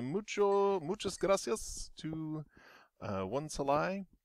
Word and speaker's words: 1Salai: muchas gracias to uh one salai that is how how his name is pronounced i have finally figured it out uh from his own videos uh thanks to one's